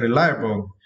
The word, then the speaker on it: reliable: For this word, you need to stress the second syllable, lie. Okay, reliable.